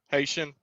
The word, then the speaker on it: Haitian: believe they were Hat or uh am I pronouncing it right? Hatian or Haitian or whatever Haitian.